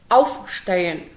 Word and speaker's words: Aufstehen: Zwróćcie też uwagę, że w tych czasownikach, które były rozdzielnie złożone, tam akcent padał na przedrostek. Aufstehen, einkaufen, tak? Mitkommen, mitnehmen. Tamten akcent ewidentnie pada na przedrostek.